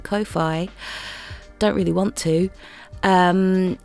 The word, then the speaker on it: Ko-fi: I think you're supposed to pronounce it Ko-fi.